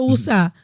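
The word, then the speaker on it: Uza: O sea, ¿qué hizo Usa? Porque lleva acento en la A. Uh-huh. ¿Qué hizo Usa?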